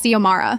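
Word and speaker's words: Xiomara: My name is Ziamara.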